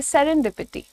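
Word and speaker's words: serendipity: सेरेंडिपिटी। ठीक है? सेरेंडिपिटी। सेरेंडिपिटी डी का साउंड अलग से देना है आपको। सेरेंडिपिटी। सेरेंडिपिटी। ठीक है? So don't say सेरेंडपिटी। You have to से सेरेनडिपिटी।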